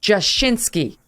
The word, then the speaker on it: Jashinsky: thanks for having us emily i continue to butcher your last name joshinski that's right no it's not butchered